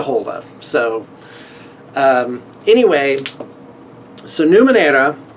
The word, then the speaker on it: Numenera: So anyway, so Numenera, however you want to say it. I tend to want to say it like the Spanish way and do a hard R on there.